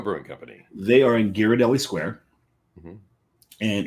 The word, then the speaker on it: Ghirardelli: It's unlike here where you put an H after a G, it becomes a soft G. It's the other way around. So it's Ghirardelli Square.